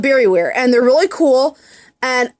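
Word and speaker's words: Bariware: I saw these things called Barryware, and it's spelled B-A-R-I-W-A-R-E.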